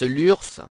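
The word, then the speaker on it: Lurs: deux caractères Nota Bene on prononce l'ours et l'ours n’est donc pas homophone de Lure géographie localisation le village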